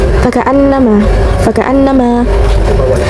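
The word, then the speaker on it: فَكَأَنَّمَا: Lalu ada guna eh fakaanama fakaanama terdapat guna yaitu nun bertaswid. Cara bacanya ditahan ee serta memakai dengung ke hidung. Kakaan nama.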